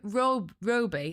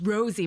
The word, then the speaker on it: Rosie: And he and he was mispronouncing my name every time like Roby. And I went, "No, it's Rosie."